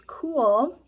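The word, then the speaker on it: KÜHL: for you to know the brand is spelled k-u-h-l which is cool men's and women's my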